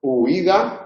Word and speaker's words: huida: Se puede pronunciar separado, huida, igual que el otro día yo ponía el ejemplo de viudo. Viudo sería lo mismo. En este caso es ui, en este caso es iu, lo mismo nos da el orden, las dos son altas, se admiten las dos pronunciaciones, a efectos ortográficos se considera siempre diptongo.